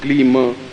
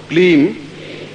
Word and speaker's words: क्लीं: इसमें प्रत्येक में म ध्वनि आई है, ध्यान रखना। जैसे क्लीम श्रीम रीम, और जिनको नहीं आता